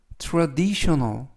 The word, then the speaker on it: traditional: 걸릴 거예요라는 뜻이 되겠습니다 이번 표현은 traditional traditional traditional이라고 발음하시면 되겠고요 이때 강세는 알파벳 아의